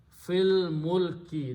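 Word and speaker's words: في الملك: You read them together, do not pronounce al, the hamzatul wasl. Fil mulki, that's the word in the Quran.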